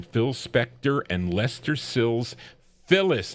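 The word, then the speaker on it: Philles: Phyllis, not Phillies, Phil is how you pronounce it.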